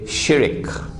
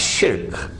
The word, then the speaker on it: shirk: The Malays say shirik. Please change your pronunciation. It's shirk.